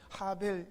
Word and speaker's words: 하벨: 하벨 이에요 이제 힘들여 원래 발음은 하벨 이어 그게 뭐냐면 허 때입니다